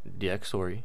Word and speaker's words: Dxtory: you simply type into Google DxStory. It's spelled DxTory.